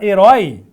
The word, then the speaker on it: herói: eu falo a palavra herói herói é uma oxítona que termina com esse ditongo aberto herói Então aqui tem acento